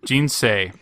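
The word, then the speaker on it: 人生: The next one is Jinsei. Jin, as in Jinca, or Se, as in Sei. All right, Jinsei.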